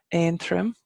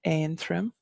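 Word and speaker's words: Aontroim: have Antrim obviously is the English county name and trim which is lone Ridge and trim but in English we call it Antrim here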